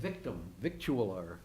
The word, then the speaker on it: victualler: It really is victular? It sounds like victualler. I always thought it was vittles.